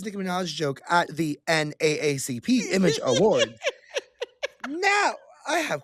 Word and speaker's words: NAACP: know that comedian, it's NAACP now. They're telling us we can't say doubleACP anymore. Yes. Spell it out. It's NAACP. That's what they're telling people.